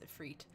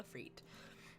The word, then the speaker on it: Ifrit: I've heard it pronounced multiple ways. I think it's Ifrit.